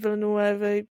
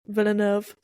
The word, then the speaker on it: Villeneuve: I think Denis Villeneuve or whatever is one of the best directors. Oh, okay, shut up. That's how Americans say it. Villeneuve.